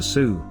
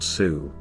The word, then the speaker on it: Sioux: their enemies the ojibwe the french mispronounced the ojibwe word as nade wisu and shortened it to sue the name by which